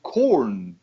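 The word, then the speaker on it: Korn: right oh you you you pronounce it corn I would say they're corn like you know I'm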